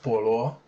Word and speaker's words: 菠萝: china these two characters up here this is pronounced polo and as far as i know but separated